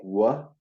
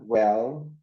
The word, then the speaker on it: well: to pronounce it better that's the way you pronounce it is something like what I think it's something like what so try to pronounce the Elmore try to enunciate dial more well can you try that Marta well well there that's how you pronounce it watch